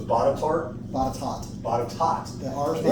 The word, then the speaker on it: Botetourt: So it's Botetourt? Botetourt. Botetourt. The R's They have some weird names over there. Yeah, the R's not even there. It's Botetourt. Okay, so the R doesn't get pronounced.